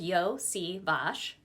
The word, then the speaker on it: Iosivas: Olympics for the heptathlon his name is pronounced yoi Vash Yash and as a kid